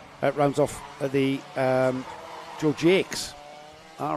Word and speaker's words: Georgie X: off at the um Georgie X all right okay that's the pronunciation George X not Jax okay it's spelled in the French weather I know Brian Jacks